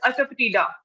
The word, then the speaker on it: asafoetida: Anyone else who knows the meaning of this asafatida? The pronunciation is asafatida. Asafatida. I think hing. Yes, absolutely right. It is hing, asafatida. The pronunciation is a bit difficult, so we need to learn it up.